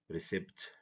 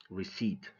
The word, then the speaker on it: receipt: If we read these words, someone who doesn't know the silent letters is gonna say, or she's gonna say, hour, dipped, but get, sin, sign, recept, fasten, somi, folk, isel, klemb, hymn, handkerchief. This is wrong, okay? This is wrong. If we know the silent letters, we're gonna say our, debt, budget, sign, receipt, fasten, sum, folk, aisle, climb, him, handkerchief.